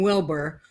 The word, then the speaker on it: Wilber: with your last name Wilbur whether you spell it wrong with the UR or you spell it correctly with an ER you still say it the same way yes yeah at least